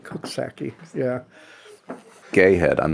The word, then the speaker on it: Coxsackie: All right, now this one, I don't think it's Coxsackie. Is it Cooksaki? Cooksaki. Yeah. Cooksaki. And we're getting a little... It's like cook, right? Yeah. Cook. It's like Cooksaki.